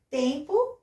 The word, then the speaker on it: Tempo: Tempo, mesma coisa. Eu escrevo com O, pronuncio com U.